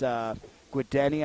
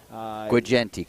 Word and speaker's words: Guigenti: It's Guideni, I believe, 14 catches for 169. Guigenti, correct. Guigenti, that's right. I had a good chat with their coach on pronunciations.